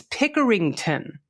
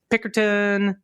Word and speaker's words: Pickerington: It's Pickerington. Exactly how it's spelled and my hometown.